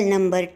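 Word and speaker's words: know: परंतु अगर के बाद इमीडिएटली एन आता हो तो के साइलेंट बन जाता है।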